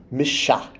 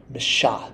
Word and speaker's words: misha: This is pronounced misha, misha. The S with the little V over it, remember, is an SH sound.